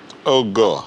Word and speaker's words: Ogor: Actually, it's like an abbreviation of Oh God. So the D is silent. Mm. Oh, okay. Ogor.